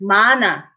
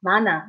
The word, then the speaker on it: 많아: And remember, although when an 이응 follows, that sound carries over, not when there is 히읗. Remember the 히읗 rule? So in this case, 많아, 많아.